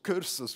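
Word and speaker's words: kursus: Oh, I'm going on a training course or cursus, whatever the Afrikaans dudes call it. Well, how do you pronounce it? Cursus.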